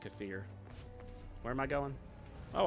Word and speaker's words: kefir: Uh, Kafir, which some people pronounce Kefir, but it's supposed to be pronounced Kafir.